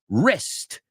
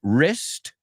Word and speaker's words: wrist: are spot on yes that W is a silent W like in the word wrist right wrist to wreck right to